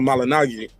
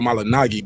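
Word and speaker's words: Malignaggi: Paul malagi Paula malagi but I think it's pronounced Paul malan Nagi the actual way I heard him say one time but everybody just say it wrong so he just roll with it but I never thought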